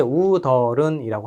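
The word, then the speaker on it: 웃어른: 이게 우더른은 여러분들 발음은 이제 우더른이라고 합니다.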